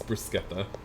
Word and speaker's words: bruschetta: They were all like, but we're Italian, we know. And I'm all like, no, it's bruschetta.